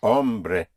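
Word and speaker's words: hombre: Not to be confused ever with ombre which you may have heard ombre h o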